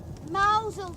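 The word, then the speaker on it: Mousehole: time we should be in now so what mausole that's how it's pronounced what are you talking about it's spelled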